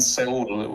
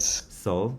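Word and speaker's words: Seoul: Korea I'm correct yes so let me find Soul or how do you say it Soul yeah soul soul okay sorry Soul youe the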